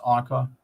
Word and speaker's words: Anki: The word Anki, pronounced Anka, is made from the word